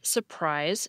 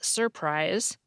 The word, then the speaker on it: surprise: we pronounce our R's, people still tend to drop an R if it's in the middle of a word and comes before another syllable that has an R. That's why you hear surprise instead of surprise, adversary instead of adversary, caterpillar instead of caterpillar, and particular instead of particular.